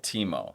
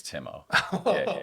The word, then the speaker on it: Timo: so they went with Teemo and that's the correct pronunciation in German but since I've been living in the states it's Timo okay naturally I come